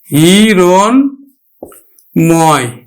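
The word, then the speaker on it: হিরণ্ময়: সাথে ম ফলা আছে এজন্য কিন্তু ম ফলার উচ্চারণ হবে হিরণ ময় হিরণময় মধ্যম এর সাথে ম ফলা যুক্ত থাকার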